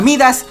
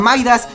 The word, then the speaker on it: Midas: skin de nivel 100, a Midas, a Maidas, como putas lo conozcan, porque siempre que digo Maidas dicen: ¡así no se dice en español!